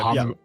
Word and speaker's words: Bahamut: Bahamut, right? That's how you say it. Yeah, Bahamut.